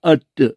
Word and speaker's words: earth: 그 EARTH를 그대로 발음하면은 에아 EAR EAR 그러니까 에아르 TH 뜨 에아르 뜨 이렇게 하는 거를 그렇게 스페링 써놓고 우리 발음을 에아르 이렇게 발음 안 하고 에아르 뜨 이렇게 안 하고 그냥 어뜨 이러거든요.